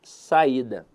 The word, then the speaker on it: saída: E eu quero avaliar com vocês aqui a palavra saída. Veja que a sílaba tônica dela está na penúltima sílaba.